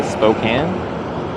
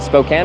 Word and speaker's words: Spokane: Is it Spokane or Spokane? Fan for life just subscribed with Twitch Prime. JHFC fan for life, thanks for the 2-month Prime resub. Can. There, I was saying it right.